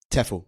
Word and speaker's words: TEFL: you started a business to train um other teachers of English as as a foreign language which is do you pronounce the acronym TEFL? TEFL.